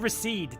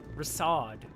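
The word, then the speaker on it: Rasaad: I said recede, didn't I? Rasad.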